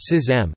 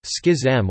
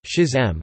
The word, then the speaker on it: schism: A schism, pronounced schism, schism, or, less commonly, schism, is a division between people, usually belonging to an organization, movement, or religious denomination.